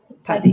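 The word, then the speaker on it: PADI: Is it Paddy? Paddy. Like the name Paddy.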